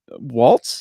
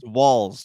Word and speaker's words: Walz: How do you pronounce it, Craig? Waltz? Is that how you pronounce it? Walls. Do not give him more credit. Waltz is a way cooler name than Walls. Okay. Walls as in build the walls.